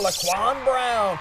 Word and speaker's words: Laquan Brown: We go back out to Beulahville where Laquan Brown rhymes with touchdown, and there he goes,